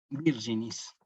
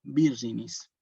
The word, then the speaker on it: virginis: segunda parte virginy sí la G con la i y la G con la e la pronunció como allí o como ya y como Allí sí Virgo virginis la G con la